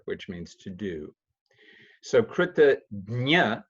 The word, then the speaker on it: kritajna: So kritagnya, that jna is like you may have seen the word prajna or jnana. Sometimes people in India will pronounce it gyan, pragya.